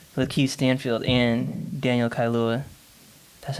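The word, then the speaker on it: Kaluuya: messiah because both with keith stanfield and daniel kailua that's how you say his name right uh kaluya okay um both of them were nominated as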